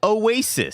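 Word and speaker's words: Awaysis: But I want to shout out, it's not spelled like Oasis. It's right. Away. Sis. Yeah. Like my sis is away.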